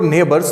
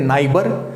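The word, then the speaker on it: neighbour: बच्चे ये जो वर्ड है इसे बहुत सारे बच्चे गलती से पढ़ देते हैं नाइबर। बच्चा ये नाइबर नहीं है, इसका जो स्पेलिंग है उसको देख के लोगों को लगता है कि ये नाइबर होगा, बट बच्चा ये नाइबर नहीं है, ये क्या है, नेबर। नेबर है ये।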